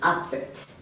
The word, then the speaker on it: upset: she has a stomach upset she has a stomach absent you know when your stomach is rambling yeah so remember i'm putting a lot of emphasis on the first syllable up up okay so